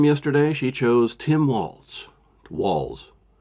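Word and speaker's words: Walz: she chose Tim wals Walls sounds like walls uh doesn't have a tea but for some reason you want to put a te in there you want to say Waltz but it is walls I will pronounce it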